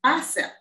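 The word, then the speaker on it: bissap: west africa is known as bicep b-i-s-s-a-p bicep and if you were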